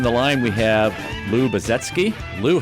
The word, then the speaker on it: Baczewski: That's the way we pronounce it, so I think it's acceptable locally, but actually in Poland it's pronounced Baczewski, so we kind of say our own name wrong in the sense of the Polish pronunciation.